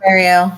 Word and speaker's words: Marielle: Julie, Randall, and Marielle. Is that how you say her name? Marielle, yeah.